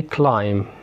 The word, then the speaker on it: climb: حرف البي بيكون سايلنت لو قبل منه جه حرف الام، زي كلايم بوم كرامس فتات لمس